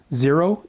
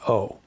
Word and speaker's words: zero: rather than simply nine zero is always zero not o when a number or